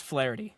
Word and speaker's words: Flaherty: Oh, it's um it's flarity.